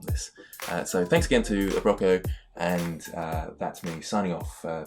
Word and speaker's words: Abroco: That is how to pronounce the name. Yep, Abroco, for this wonderful chair, and it's going to